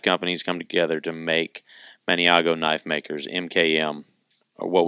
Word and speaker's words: Maniago: It's Maniago. It's spelled Maniago. Maniago Knife Bakers.